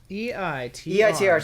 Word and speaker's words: EITR: of this game, and they said think of it as the number 8. Yeah. And then tur. It is the number 8 without the GH.